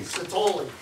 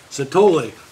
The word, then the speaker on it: Satoli: I can't, how do you say your name? Satoli. Satoli. Would you please come up now? Said you think of ravioli.